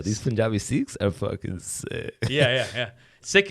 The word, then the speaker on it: Sikh: Yo, these Punjabi Sikhs are fucking sick. Yeah. Sick. It's that's how you're supposed to pronounce it.